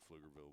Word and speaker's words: Pflugerville: people around here probably very partial to the silent P so and it has made Pflugerville very distinct so it looks like